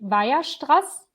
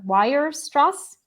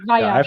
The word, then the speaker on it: Weierstrass: So I'm German, so the German, how you pronounce this is actually Weierstrass. But I think a lot of like English people say something like Weierstrass.